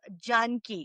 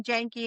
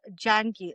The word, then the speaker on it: Janki: It's actually pronounced Janki. We say the fast slang version Janki. Actual pronunciation is Janki.